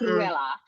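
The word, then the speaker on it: Cruella: And you have to say her name like that. It's Kruella.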